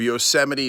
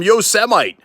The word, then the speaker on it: Yosemite: parks that we have, including Yosemite or Yosemite. Okay, no, that's not how it's pronounced.